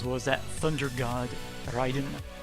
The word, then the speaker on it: Raiden: and Subzero as well as that Thunder God Ryden not Raiden not Raiden ryen it's like it's like when